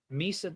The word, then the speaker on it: Misa: should be aiming for Misa does rhyme with pizza there you go uh